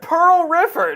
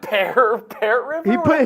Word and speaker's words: Pearl River: what did I say Pearl River not Bear River he put a t